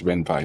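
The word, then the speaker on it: Ren'Py: Yeah, it's Renpai, not Ren Renp, whatever. I mean, I I haven't seen like the official creator like say how it's pronounced. I always say Renai because I I I think it's like a combination of Ren and Python, which is the language it uses.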